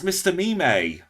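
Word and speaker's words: Mr. Mime: pose it's called Blast pose now oh it's Mr meme thank you for the correction that that's why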